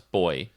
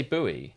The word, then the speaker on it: buoy: about my opinions on how Americans pronounce boy buoy they say buoy yeah yeah that was confusing I say buoy because otherwise you can get arrested for saying put that boy in the sea but it's one of